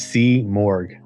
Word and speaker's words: Simurgh: a stuntman from the horse's mouth how's it pronounced that's a great question cuz everybody seems to not get it right it's C morgue so there's AC morgue okay okay so C